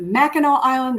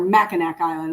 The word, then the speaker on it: Mackinac Island: Is it Mackinac Island or Mackinac Island? I think it's Mackinac Island.